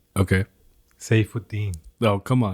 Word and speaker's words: Saifuddin: Saifuddin.